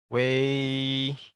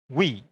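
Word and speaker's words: ui: Ini bukan wi, bukan. Tapi kalau ada apa nanti waktu, fonetik, tulisannya di sini W-U-I, jangan baca wi ya, tapi bacanya wei, ada e-nya. Karena awalnya dia begini, lalu dijadikan lebih simpel, sehingga nanti pengejaannya, fonetiknya akan hanya ini saja. Tapi bunyinya tetap wei ya, jadi wei ya.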